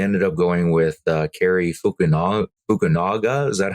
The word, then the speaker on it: Fukunaga: director, but they ended up going with Cary Fukunaga. Is that how we decided to pronounce it?